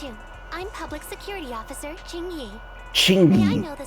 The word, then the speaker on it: Qingyi: I'm public security officer Ching y Ching may I know the specific request you have for public security community service the Q is silent chyy chy sh hold on for a